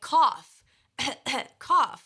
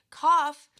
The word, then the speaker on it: cough: could be off like COFF COFF right cough the ough sounds like off and though it sounds like oh it's the same spelling Oh ugh at the end but the pronunciation is different so we have to